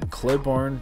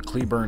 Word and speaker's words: Cleburne: Loaf and dog in Claiborne Claiborne Claiborne Cleburne Texas Cleburne Cleburne Texas there you go I believe that is my proper pronunciation um and this challenge